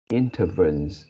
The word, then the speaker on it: intervenes: The last second word you pronounce as intervenes, I think is intervenes. Intervene. Intervenes, yeah, sorry. Yeah, I mean the last syllable is something like wins.